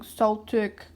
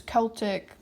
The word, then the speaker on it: Celtic: People have commented so many times, like, you're not pronouncing Celtic right, it's Celtic.